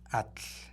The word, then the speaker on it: Atl: Es Atl. Atl. A-T-L. Así simple, o sea, es muy fácil de pronunciar, Atl, como se conforma esta palabra.